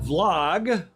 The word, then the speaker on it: vlog: you on the show another nice Vlog spelled with a v v log flog meaning a video blog that's what all the